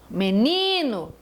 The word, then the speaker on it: menino: Olhem a última então quando eu vejo a palavra menino menino olhem de trás paraa frente no ni me menino a tônica é a penúltima chaleira penúltima ovem penúltima